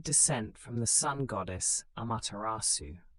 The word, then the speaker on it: Amaterasu: The Yamato claimed descent from the sun goddess Amaterasu, pronounced Mate Rasu.